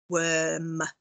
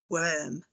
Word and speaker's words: worm: in the middle there which is actually in this word making the er sound worm worm but it's spelt using o r oh here's another one